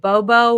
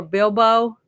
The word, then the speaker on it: Bubo: And I thought, oh, I'm going to put that on in honor of the little, is it Bobo or Bilbo? Bubo. Is that how you say it?